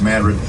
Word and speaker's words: Madrid: opposite at New Madrid it's spelled Madrid it's pronounced Madrid that's where Island number 10 is going to